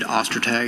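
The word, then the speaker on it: Ostertag: My name is Detective Ostag. That's spelled O S T E R T A G.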